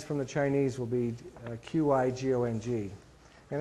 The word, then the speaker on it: Qigong: So I'll do my best, but part of the purpose today is to talk to you about Qigong. And the pronunciation of the word is Qi-Gong.